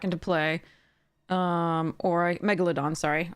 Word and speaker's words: Megalodon: I can put the Megaladon back into play um or I Megalodon sorry I always pronounce it incorrectly based on the GRE Roots um so or I